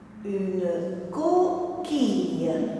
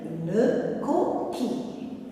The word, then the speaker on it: coquille: Une coquille. 2 syllabes. Première syllabe co, deuxième quille.